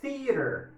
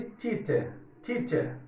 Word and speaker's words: theater: Theater. Theater, eu tenho o TH, aquele sopinho. né? E tem um T entre vogais ali, ó. Então, nada de teacher, ou erradíssimo.